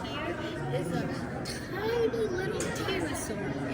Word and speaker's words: pterosaur: Not they evolved in the ocean, and then stayed This here is a tiny little pterosaur. It's pronounced terosaur. No no P. The P is silent.